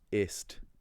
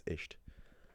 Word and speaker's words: ist: You can't learn German and say, oh, ist, that's too much effort to remember that spelling rule, I'm just gonna pronounce it as isht.